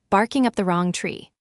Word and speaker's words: barking up the wrong tree: The heavy stress lands on the word wrong, barking up the wrong tree.